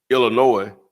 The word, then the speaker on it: Illinois: what i said kansas illinois i know how to say it they got me straight um what the s for silent what they said yeah